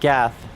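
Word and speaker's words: Geth: Oh, hey, would you look at that, GU? shame that your name rhymes with death cuz that is what you are going to receive.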